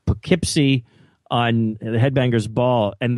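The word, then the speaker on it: Poughkeepsie: dat and I'm like what the heck is that p u GH and and then I was like okay that's pipy that's what he's saying I I didn't realize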